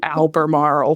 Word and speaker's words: Albemarle: at COA because you're going to have to pronounce Alber Marl for everyone you did it you did it